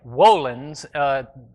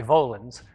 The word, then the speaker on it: volens: And the word, it's pronounced, I guess, volens. It's a V, so we would say volens. But in Latin, they pronounce the V as a W, which is not important to us.